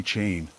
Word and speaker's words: Chane: smiled shyly and said please call me chane I told you the reason if you can recall I reply feeling embarrassed hi yeah because it rhymes with pain I noticed her face